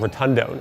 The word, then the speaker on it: rotundone: This unusual characteristic comes from an aroma compound called rotundone. It's spelled like rotund one, pushed together.